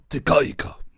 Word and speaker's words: Te Kahika: I want to pronounce it correctly. Te Kahika.